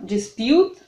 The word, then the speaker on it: dispute: in dispute в спор смотрите на слово dispute оно похоже на русское слово диспут но читается оно с ударением на букву ю dispute и переводится оно спор